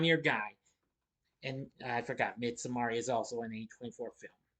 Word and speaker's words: Midsommar: Well, as I pronounce it, Midsummer, but it's Midsommar.